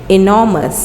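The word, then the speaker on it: enormous: होता है बहुत बड़े इसकी सही प्रनंसीएशन है इनॉरमस ए आर साइलेंट है इनॉरमस बहुत बड़े बड़े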